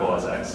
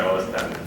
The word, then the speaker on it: Mac OS X: That's what I'm I think I'll have to say Mac OS X. Woo! Sorry, OS 10. Sorry, OS 10 was how it's pronounced.